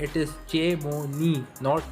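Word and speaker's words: Chamonix: सो ये नाम को जो है इसको आपको ठीक प्रोनाउंस करना है, इट इज़ चेमोनी, नॉट चेमोनिक्स या शेमोनिक्स, इट इज़ चेमोनी इन फ्रांस।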